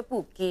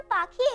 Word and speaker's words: पाखी: मैं श्रीमती कपूर हूं, और यह मेरी बेटी पूकी है। पूकी? यह तो बड़ा अजीब नाम है। दरअसल, मेरा नाम पाखी है। लेकिन नीतू पाखी का उच्चारण नहीं कर पा रही है.